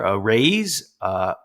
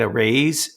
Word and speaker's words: Araize: And today we have a sponsor, a Raise. It's spelled A-R-A-I-Z-E.